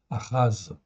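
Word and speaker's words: אחז: Donc le prime H, en fait, ici, c'est une symbolique pour dire que c'est un H qui se prononce presque comme un R. C'est guttural, ça vient du fond de la gorge.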